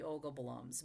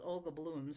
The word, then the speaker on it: Olga Bloms: We're pretty sure it should be Olga Bloms, but it's being mispronounced as Olga Blooms, so that's how I'm quite sure that the Norwegian would be Blum.